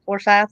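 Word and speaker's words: Forsyth: then that Levi disappeared from forth County for for sou is that how you pronounce it for sou yes ma'am that's correct his body was found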